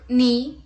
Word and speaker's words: knee: Let's look at a seventh word with silent letter KN. Let's look at the examples. Knack, knee, kneel, knife, no, night, knuckle, knit, knob and knot.